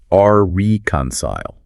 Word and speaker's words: reconcile: Yes, and the source made a great point about the pronunciation. It's reconcile. Not reconcile.